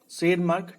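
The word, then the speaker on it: Tschermak: और शेरमार्क T silent है, शेरमार्क of Austria, ये ऑस्ट्रिया के थे, जहाँ का मेंडल था।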